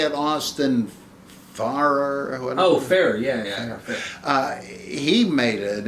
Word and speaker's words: Farrer: Farrer, yeah.